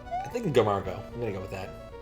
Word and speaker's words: Margot: Margot, excellent. It's one of those French word things. I just expect the T to not be pronounced.